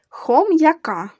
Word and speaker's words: хом'яка: з великої букви У хом'яка хо звук м перед буквою я вимовляємо твердо Отже ставимо апостроф апостроф яка п'ять